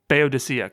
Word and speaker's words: Boadicea: Well, the Fugees used an earlier Enya track, I'm going to not pronounce it right. Boadicea? Boadicea, correct.